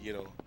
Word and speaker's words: gyro: I mean, I actually pronounce it gyro since I'm half Greek, but I mean, if I say gyro, they're like, what?